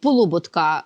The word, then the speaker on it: Полуботка: вона апелює до по Полуботка наголос саме такий правильний Хоч він комусь може здаватися дивним тому що його прадід